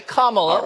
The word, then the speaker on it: Kamala: going to end it Kamala is it common it's Cibola that is correct not okay Kamala like like the punctuation moving on who is